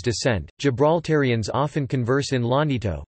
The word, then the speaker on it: Llanito: Gibraltarians often converse in Lanito, pronounced Anito, a vernacular unique to Gibraltar.